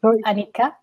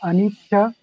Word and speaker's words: anicca: Anika? Yeah, so it can be called anika or anicca.